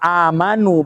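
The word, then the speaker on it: آمَنُوا: Kalau harokat mimnya fathah amanu bacanya, itu artinya mereka beriman.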